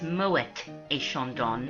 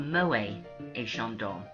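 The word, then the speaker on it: Moët & Chandon: way it's actually pronounced Moet a Shandon not Mo a Shandon little known secret Moet is the way the family pronounced their names but I'm very uncomfortable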